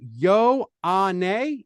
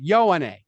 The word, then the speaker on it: Ioane: And so you say Yo Ane is how you say. That's how you were saying. You said it earlier. It's That's like how Ioane. Google says it. Yo Ane. Vega Ioane is how he likes to be known.